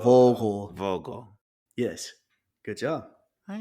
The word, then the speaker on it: Vogel: So you got the V. So it's Vogel, Vogel, Voho? Vogel. So Vogel, Vogel.